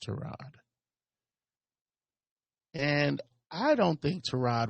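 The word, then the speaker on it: Tyrod: New York Giants started trod Taylor it's pronounced trod and I don't think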